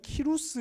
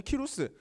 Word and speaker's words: 키루스: 세계사를 배우 셨다 면 그 세계사 교과서에는 키루스 2세 라는 이름으로 등장합니다 그래서 실제로는 키루스 2세 라고 하면 검색해보면 바로 뜹니다 고레스의 라고 하면 이제 성경에 나오는 발음 이구요 그 다음에 역사책에 는 키루스 영어 식으로 발음하면 싸이더스 이렇게 되는 사람입니다 요 사람 이름의 뜻이